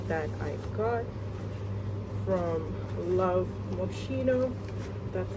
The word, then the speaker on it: Moschino: But anyways guys, let me just show you this cute handbag that I got from Love Moschino. That's how you pronounce it.